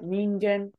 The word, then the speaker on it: 人間: We start with Nin and it ends with what? Again. Yep, Ningen. Perfect.